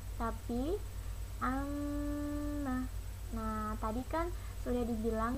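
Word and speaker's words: عَمَّ: Kalian membacanya bukan amma tapi amma.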